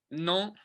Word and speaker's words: Nantes: I mean, to be fair, I'd say Nantes. That's how you say it.